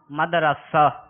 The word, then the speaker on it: مدرسہ: ذرا بتائیے۔ اللہ اللہ، درست تلفظ کا انتخاب کریں، مدرسہ یا مدرسہ؟ مدرسہ۔ را کے اوپر فتح۔ را کے اوپر فتح